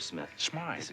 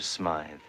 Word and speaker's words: Smythe: year old cop look mr smith it is pronounced spy all right mr smythe mr yates has 50